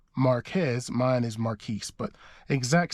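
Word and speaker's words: Marques: differently it's spelled the exact same his is pronounced Marquez mine is Maris but exact same spelling but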